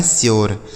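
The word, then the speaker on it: sure: जैसे यस से आधा श हो जाएगा, यू का उच्चारण यो, RE से हो गया आपका र, यह लिखा है श्योर।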